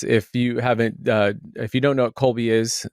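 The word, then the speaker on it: Kolbe: you don't know what Colby which is spelled with a K, you truly haven't lived.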